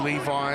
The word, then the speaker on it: Levy: I know that many refer to his name as Levi. It's been perhaps the way his name's pronounced, but when turning out in the Samoan squad, appropriate to acknowledge the Levy. It's a prominent name in the Samoan culture. That's the handle we'll use today.